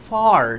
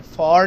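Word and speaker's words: for: लिया अब हम देखेंगे फॉर साउंड ये जो साउंड है कनेक्टेड स्पीच में जब बीच में आता है तो इसको फ पढ़ते हैं फॉर नहीं कहते फ कहते हैं इट्स फ़ॉर यू।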